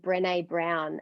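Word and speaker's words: Brené Brown: supported and loved i think i think it's pronounced brene brown and she has this beautiful video on youtube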